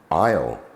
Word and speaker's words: isle: raspberry okay onto letter s is silent in some words as in Isle Island eyet T is